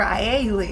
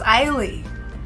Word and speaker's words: Ai Lee: I've been saying this woman's name wrong for years. I was calling her Ailey. Her name is Ailey.